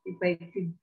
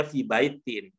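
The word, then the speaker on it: في بيتٍ: Ya, kalau di wakof tidak dibunyikan akhirnya memang tidak kedengeran itu. Fi bait, memang fi bait jadinya. Tapi ya, kalau itu diucapkan jadinya fi baitin.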